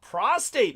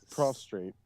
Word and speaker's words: prostrate: it and did my best to just uh prostate myself before her and she wasn't satisfied with that she still ultimately Pro prostrate but it's okay okay thank you yeah did